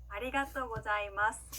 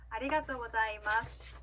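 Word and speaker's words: ありがとうございます: 아리가또 고자이마스 라고 합니다. 천천히 따라해 볼게요. 아리가또 고자이마스. 한 번 더. 아리가또 고자이마스.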